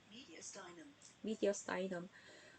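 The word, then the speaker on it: mediastinum: 미국식 보시면 미디아스터넘이라고 얘기를 하죠. 미디어스타이넘.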